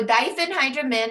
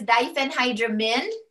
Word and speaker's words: diphenhydramine: is benadryl generic is diphenhydramine okay so take note when you see i n e we don't pronounce it as uh americans usually pronounce it ein we pronounce it when